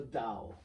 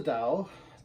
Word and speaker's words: Tao: Sometimes you see Tao also spelled with a T, could be Tao. That is only a matter of how you transliterate things from the Chinese characters and the Chinese pronunciation into English. I guess it is something, the sound should be something between the D and the T.